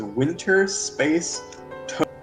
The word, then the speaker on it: Winter Space Toad: But the fact of the matter is, this is an invented word with an invented pronunciation. So so you're right. If you want to pronounce it Winter Todd, then you can. Oh, I But forgot the intended pronunciation is Winter Toad. There's literally an NPC that walks around whose name is Winter Space Toad.